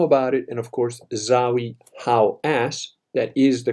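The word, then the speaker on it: Zahi Hawass: And he mentioned this, he made it public, he made people know about it, and of course, Zawi Hawass, that is the correct pronunciation of his stupid Egyptian name, who controls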